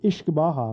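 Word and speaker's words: uisce beatha: you know for this podcast the word is ish baja which translates to water of life so whiskey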